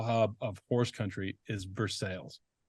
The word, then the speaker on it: Versailles: called or is that just how like jokul pronounce it it's for sales Versailles it's for sales that's that's a tough scene it's it's diff